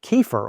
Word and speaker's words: kefir: Kefir, or kefir, as some people pronounce it, that is made with low sugar, not the ones that taste like milkshakes.